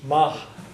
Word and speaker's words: maith: Ma which should pronounce you should pronounce that like an H Mah but who's going to